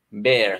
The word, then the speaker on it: bear: Esta oso se pronuncia como una E del español, bear. Sí. Como en español, bear.